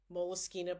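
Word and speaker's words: Moleskine: It's actually pronounced Moleskina, but people will say moleskin.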